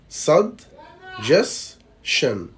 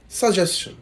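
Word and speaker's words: suggestion: الكلمه دي نطقها في الامريكان اكسنت هيبقى بالشكل ده: صد جس شن. صد جس شن. صد جس شن. صد جس شن بالشكل ده. اما نطقها في اللكنه البريطانيه هيبقى ساجشن. ساجشن بالشكل ده.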